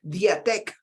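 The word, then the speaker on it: διαθήκη: Entonces, cuando vemos testamento, vemos que viene de la etimología griega, que significa, o que se pronuncia, mejor dicho, diatek, tal cual como se lee, diatek.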